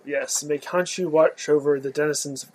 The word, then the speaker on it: Khonshu: One thing is, how do you pronounce the? No, it's Khonshu. Khonshu, yes. May Khonshu watch over the denizens of the night.